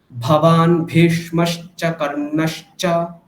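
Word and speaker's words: भवान् भीष्मश्च कर्णश्च: ভবান ভেষ, এখানটায় দেখুন দুটো ভকার আছে, দুটো ভকারকে কিন্তু মহাপ্রাণ উচ্চারণ করতে হবে, অল্প প্রাণ বললে হবে না, ঠিক। ভবান ভীষ্মশ্চ কর্ণশ্চ, বলুন।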